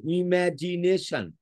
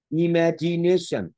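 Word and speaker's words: imagination: মনে অনেক কিছু কল্পনা করছে এই শব্দটাকে note ইমাজিনেশন ইট ইজ a noun form উচ্চারণটা সান আছে সান সান sound ইমাজিনেশন ার San sound it ইজ a noun word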